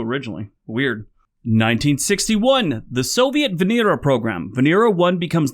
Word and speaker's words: Venera: know it passed so that's kind of cool Venera means Venus in Russia it's actually pronounced Venera 1986 the firearm owners Protection Act to sign